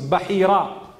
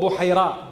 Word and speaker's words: Bahira: His name was Bahira or Buhaira, depending on how you want to pronounce it.